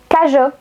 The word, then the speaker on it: cageot: Si vous ajoutez la lettre E entre la lettre G et la lettre O, donc G-E-O, vous allez avoir le son JO. Par exemple, cajot.